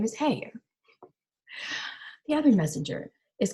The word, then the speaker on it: Haigha: that when he's happy his name is haigha he pronounced it like hair so his name is hey the other messenger is